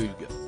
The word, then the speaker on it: Hugues: finalement recommandé de le prononcer à la française Hugues si et si parfait a-t-il lâché dans un français irréprochable une indication qui a beaucoup étonné l'animatrice on dit UNE sad glamourise un peu Hugues a-t-elle prévenu mais loin d’être choquée le célèbre